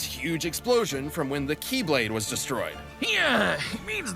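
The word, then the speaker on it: χ-blade: explosion from when the keyblade was destroyed yeah it means the x blade it's just pronounced like keyblade even though it's just one keyblade ah the series is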